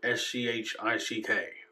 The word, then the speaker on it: Schick: The company is S-C-H-I-C-K. I pronounce it Schick.